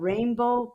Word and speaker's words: Reinbou: translated into English, and it's spelled Reinbou, because this little Dominican boy hears the American occupation, the Marines talk about rainbows, and rainbow is how it's spelled.